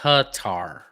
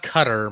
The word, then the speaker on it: Qatar: It's you're actually more like it's more like Qatar. Qatar cutar. So not cutter, but more Qatar, but not I'm